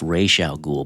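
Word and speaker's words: Ra's al Ghul: You don't need to explain much unless you want to be a Batman nerd and be like actually it's pronounced Ray Sha Ghoul but they they took some creative liberties with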